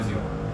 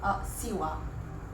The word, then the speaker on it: ziua: Like zero. Ziua. Ziua. Z. Ziua. Siwa. Siwa. Ziua. Siwa. Ziua. Siwa. Siwa. Ziua. Siwa. Z. I want like zebra. Ziwa. Zebra. I want to hear the sting Zebra. in that Z.